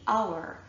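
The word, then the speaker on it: hour: with an H but the H is silent and so what we're actually hearing at the start of these words is a vowel sound so we say honor we say our we say air we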